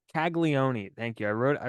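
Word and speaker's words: Caglianone: colon kig how do you say his name kagon kagon thank you I wrote I wrote down like the name pronunciation you even wrote it phonetically and you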